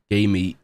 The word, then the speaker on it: GAM: sign up to um game which sounds interesting when I say out loud but it's spelled g a m because they're running a